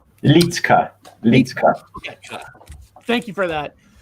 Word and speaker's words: Liedtke: I don't wanna say your last name wrong. Is it Liedtke? How you say your last name? Liedtke.